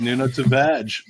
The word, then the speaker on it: Nuno Tavares: That's apparently how his name is pronounced, Nuno Tavares.